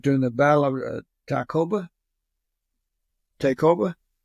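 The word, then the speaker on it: Tayacoba: the Battle of taoba takeova how do you spell it t a y a c o b a it sounds like to KOB to mean yeah then the following year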